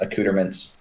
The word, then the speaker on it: accoutrements: I think it's pronounced accoutrements. Accoutrement. Yes. Accoutrements. Yeah, so the old lady